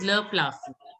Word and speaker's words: plafond: Le plafond. Plafond. D is not to be pronounced. So it is le plafond.